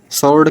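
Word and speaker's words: sword: सोर्ड का तलवार हो जाता है।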